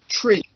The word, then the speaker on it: three: pronunciation is one notice three is pronounced tree and four is pronounced